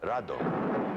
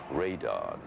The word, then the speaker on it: Radon: Rodan which in Japan was called Radon you know it's the Japanese pronunciation of Radon Radon and when that was